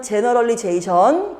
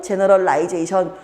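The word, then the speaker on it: generalization: 그래서 나오는 말이 정치인은 책임지기 싫으니까 모호한 제너럴리제이션, 우리 미국 발음은 제너럴리제이션, 영국 발음은 제너럴라이제이션 둘 다 맞습니다.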